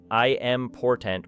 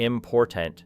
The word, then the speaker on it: important: Consider the word important because many learners pronounce it as four equally strong pieces, saying something like I am portent with almost no difference between the syllables, yet natural English normally gives greater energy to the second syllable, creating a shape closer to important.